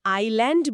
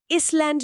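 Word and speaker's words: island: প্রথম শব্দটাই হলো আইল্যান্ড। আমি ছোটবেলায় ভাবতাম এসটা কেন এখানে চুপ করে বসে আছে। আমরা কেন আইল্যান্ড বলি, ইসল্যান্ড নয়?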